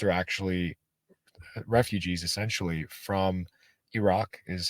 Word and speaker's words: Iraq: my my parents are actually refugees essentially from Iraq is how we pronounce it uh they left in the 70s